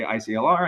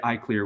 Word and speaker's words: ICLR: or Not by the way they pronounce This Acronym if they say iclr I know they're not in the community if they say I CLE I know they might be in the community um so you all should say I clear when you're talking to people and uh again the